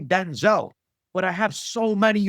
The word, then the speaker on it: Denzel: what I learned recently by the way that he pronounces his own name Denzel.